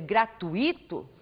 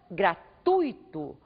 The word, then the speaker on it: gratuito: você pronunciar diga pudico em vez de dizer gratuito por exemplo diga gratuito faça a sílaba mais forte ser a penúltima sílaba desta palavra ainda